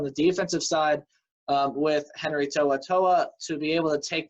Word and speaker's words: To'oTo'o: They're returning their quarterback, Jarrett Guarantano, and they're also returning their best defensive player, in my opinion, is linebacker Henry To'oTo'o, which is how you pronounce his last name.